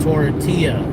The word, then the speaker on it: tortilla: Somebody just said, do you pronounce the L's in the word tortilla? Obviously not.